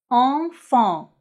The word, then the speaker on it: enfant: Mais attention, dans le mot enfant, E-N se prononce en, enfant.